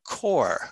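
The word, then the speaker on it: coir: I've used it is called core I think I'm pronouncing that right coconut core c-o-i-r and some of the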